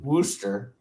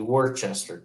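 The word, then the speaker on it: Worcester: yes wow and in in New England Wooster is actually Worchester w r c s t r now there is a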